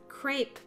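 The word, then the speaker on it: crêpe: That crap place is up ahead! Crepe, Enoch. It's pronounced crepe, but please don't be so loud.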